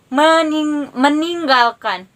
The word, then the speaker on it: meninggalkan: Misalnya meninggalkan. Mening, kalian baca dulu yang eng, baru kalian baca G-nya dengan jelas.